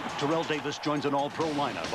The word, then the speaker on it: Terrell: And it's pronounced Terrell. Terrell Davis joins an all-pro lineup on NFL Total Access.